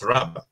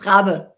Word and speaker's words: Raabe: It's Raabe. Yes, Raabe.